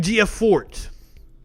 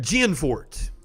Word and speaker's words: Gianforte: like the newly elected governor of montana greg gforte greg gianforte i kept saying it wrong last night flips